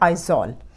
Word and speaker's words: Aizawl: मिज़ोरम में भी Z आता है, उसके कैपिटल की स्पेलिंग में भी Z आता है। मिज़ोरम का कैपिटल है आइजॉल।